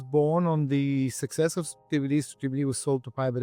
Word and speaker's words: Strativity: Right now, you have a firm called Strativity. Is that how you say it? You pronounce it correctly, but I no longer own it.